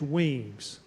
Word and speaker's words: Wemyss: It's Wemyss and pronounced Weems. And on his left flank, Cornwallis had Patrick Ferguson.